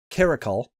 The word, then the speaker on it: Caracal: The Regal Caracal. That's the pronunciation.